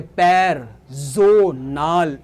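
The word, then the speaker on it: Personal: आप देख रहे हो प्रोनाउंसिएशन मेरी कैसे होती है, पैरजोनाल। ए को हम आ पढ़ते हैं जर्मन में।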